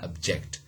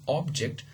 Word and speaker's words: object: in the stress syllable initially in the case of object okay is a noun the the first syllable was stressed but in the case of object you know the second uh syllable is stressed okay so that's that's